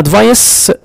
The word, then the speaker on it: advice: إنما advice لاحظ كده C ينطق كأنها S.